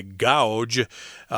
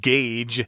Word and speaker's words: gauge: I did want to say the word gauge here is kind of weird because of its spelling there. A lot of people might say gouge, which is not the pronunciation. It's actually gauge, and it can be